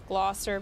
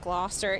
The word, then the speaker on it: Gloucester: Glosser becomes Gloster.